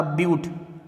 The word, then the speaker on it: but: क्या बोला, मैंने बोला ब्यूट, इसको बट नहीं बोलेंगे, ब्यूट लिखते हैं BUT, बट लगता है लेकिन इसको प्रोनाउंस करेंगे ब्यूट। मिथ इथ प्रोप ब्यूट।